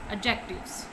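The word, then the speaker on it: adjectives: टू, एडजेक्टिव्स। डी इसमें silent है, डी इसमें साइलेंट है, हम इसको क्या पढ़ेंगे, एडजेक्टिव्स।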